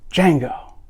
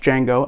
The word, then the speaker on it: Django: everywhere by tarantino titled django unchained the d is silent so yeah all right